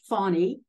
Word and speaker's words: Fani: I like to think that her name is pronounced Fani because many people, including me, are in awe of this woman.